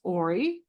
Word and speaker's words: Auri: So it's pronounced Auri, and it's a voice of illumined memory, the path of sacred.